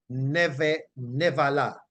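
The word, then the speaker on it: נבלה: comes is Nebalah, and it is pronounced nevala. So you notice the B, unless the B is at the beginning of a word, it is generally not pronounced as a B, but more like a V.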